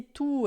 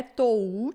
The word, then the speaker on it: tu: Então tu, esse tu aqui não é tou, não é to, não é tou, é tu, tá?